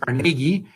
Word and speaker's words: Carnegie: history of andrew carnegie you pronounce it carnegie but in scotland they would pronounce it carnegie and his wonderful museums